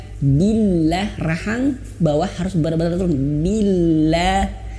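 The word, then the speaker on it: بالله: Billah. Kemudian lafaz Allah di sini perhatikan ibu bapak, lafaz Allah di sini tidak tebal ya, karena sebelum lafaz Allah ini ada huruf ba yang berharokat kasroh.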